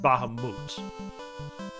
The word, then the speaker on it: Bahamut: going to do that there is actually some controversy surrounding how that word is pronounced but the most compelling sources i found suggested it is pronounced bahamut but of course when we